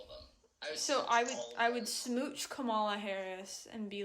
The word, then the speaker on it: Kamala: He says Kamala. No. Trump always says it wrong. But Biden also says it wrong. Yeah, everyone says Kamala. it wrong. How to Can Trump pronounce anything correctly, though? Obama. Obama. Obama. Obama. Obama. Obama. Trump would say Dula Peep. It's Kamala.